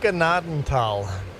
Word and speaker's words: Gnadental: You're getting the first letter wrong and the TH wrong. Gnaden, as in grace. Type in Gnaden in a German dictionary and get it to pronounce Gnaden. Grace, Tal. Grace, Tal. Gnaden, Tal.